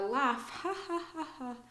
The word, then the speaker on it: laugh: again a vowel a laugh we don't hear the U at all we don't hear an